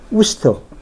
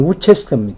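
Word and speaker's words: Worcester: 되는데 굉장히 많이 틀려요 그 예를 들면 이제 우스터 우스트라 곳이 곳이 스펠링은 우체스터 우체스터 근데 우스터 그 발음 많이 틀려요 뭐 그런 것 것들 같 우스가 맞는 바음 아니 우스가 맞는 경우죠 영국의 언론 제사부 해놓고음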